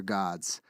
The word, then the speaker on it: Gad: god of Fortune his name is God In God We Trust is on your dollar bill g a d which is pronounced God is the god it's the um